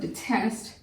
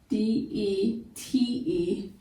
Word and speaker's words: detest: define is this word detest. D-E-T-E-S-T. That's a two-syllable word. Detest. The E in this word is not necessarily long. It's schwa. It's more of a to more of a short U sound.